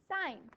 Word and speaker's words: sine: So it's actually not pronounced sin. It's actually pronounced, does anyone know? Sine, yeah, pronounced sine.